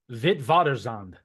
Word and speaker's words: Witwatersrand: This is actually a name in Afrikaans, I believe is how you say it. It's actually, Darin, you have it better than I do, so you say it. Witwatersrand.